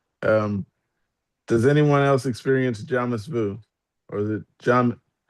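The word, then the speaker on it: jamais vu: Um, does anyone else experience jams vu or is it jam? How do you say it? Did I say it right? Jamas vu.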